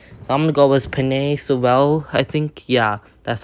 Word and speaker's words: Penei Sewell: So I'm gonna go with Penei Sewell. I think, yeah, that's how you pronounce his name, just to get better blocking for running game, passing game, all that stuff.